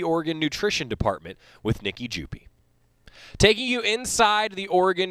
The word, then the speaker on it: Jupe: the correct pronunciation is jupi the e is not silent i am so